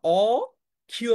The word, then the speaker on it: অক্ষি: অ দিয়ে দিয়ে লেখা অখিয় রসকারীয় কিন্তু উচ্চারণটা কি হয় উচ্চারণটা কিন্তু অক্ষি না উচ্চারণ কি অক্ষি উচ্চারণ হচ্ছে অক্ষি উচ্চারণটা কি অখি বুঝতে পেরেছ ক এর